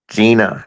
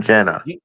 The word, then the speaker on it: Gina: It's Gina, not Jenna.